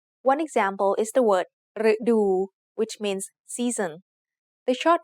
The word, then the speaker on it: ฤดู: So the word ฤดู has two syllables. The first syllable is made up of the letter รึ It is high tone because it acts like a low-class consonant with a dead syllable ending and a short vowel.